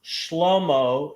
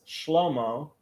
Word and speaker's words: Shlomo: Solomon is Shlomo, not Shlomo, right? So Shlomo. second to the Okay. last. The stress is usually on the second to the last syllable in here.